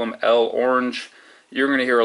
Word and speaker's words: L'Orange: There's going to be a lot of debate on how to pronounce this dude's name. I call him L'Orange myself. Some people call him L Orange.